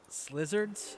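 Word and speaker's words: Slyzards: Slizzards? Slizzards? Is that how that's pronounced? Slizzards? It's like sly and lizards combined, right?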